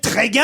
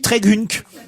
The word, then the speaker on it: Trégunc: Pardon, ça s'écrit T-R-E-G-U-N-C. Moi, je lis Trégunc. Bah oui, tu dis Trégunc, oui.